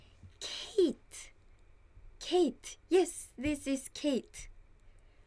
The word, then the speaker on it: Kate: But Kate is Kate, not Kate, right? So you have to think how your name is pronounced.